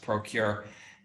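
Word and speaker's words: ProQR: from a company called procure pro qr it's pronounced procure and announced yesterday that procure was going to be partnering out their ophthalmic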